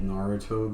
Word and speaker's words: Naruto: that's how I learned about some of those like old Naruto games.